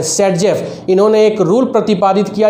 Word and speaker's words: Saytzeff: Alexander Alexander जेस्टेव ने, इनको हम बोलते हैं सेटजेफ।